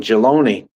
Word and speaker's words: Jelani: Or it ain't Jocelyn, Jaloni. Jaloni, yeah, that's it. Jaloni. Jaloni. Okay. Easy to read and easy to pronounce.